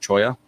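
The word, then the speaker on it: cholla: If I remember correctly, given that it comes from the cactus, even though most people say chola wood, I believe the cactus is actually pronounced choya, kind of like CHO.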